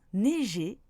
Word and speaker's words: neiger: dans Jean et enfin EI peut se prononcer est ou et par exemple dans abeille ou neige il se prononce est mais dans neiger il se prononce et.